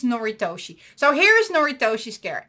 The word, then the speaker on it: Noritoshi: And the slight difference is that you need to keep the lights on at night, which is, and let me pronounce it correctly, it's Noritoshi.